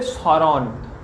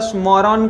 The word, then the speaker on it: স্মরণ: তাহলে এইভাবে দেখো, শব্দের শুরুতেই যদি থাকে মফলা, তাহলে কিন্তু এই মফলার উচ্চারণ হয়নি। মফলাটা বাদ দিয়েও যদি শুধু স থাকে, তাহলে কিন্তু সেই স এর মতোই উচ্চারণ হয়, কিন্তু বানানের সময় এই মফলা লিখতে হবে।